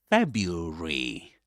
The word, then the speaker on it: February: He doesn't say Febru Febru Febru. But Febru Febru Feb. There are other pronunciations I have to say guys. But here I'm just focusing on um this particular pronunciation which is quite common in the UK in in this accent.